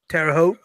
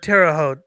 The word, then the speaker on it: Terre Haute: Terre Haute. Is that how you say it, or is it Terre Haute?